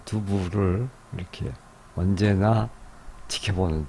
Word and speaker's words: Douve: 도부요. 불사조를 선하는 너를. 나는 이 추위 속에서 너를 지켜보고 있다. 지금 이 도부 이렇게 왔다 갔다 하면서 썼는데 프랑스 발음으로는 두부인데 흔히 도부로 많이 번역해서 부르기도 하죠.